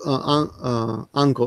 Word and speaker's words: Anko: Anko is red beans, and I said poop instead of red beans. The difference is one syllable. Anko, which is red beans, and Unko, which is shit.